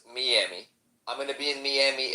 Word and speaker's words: Miami: I'm gonna be in, and by the way, it's pronounced Miami.